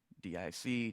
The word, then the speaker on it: DIC: information criterion or dic which is pronounced dic just to be clear so the reason for